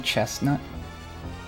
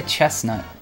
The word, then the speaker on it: chestnut: Does everyone pronounce the T in chestnut? I say chestnut. I don't think it's supposed to be pronounced.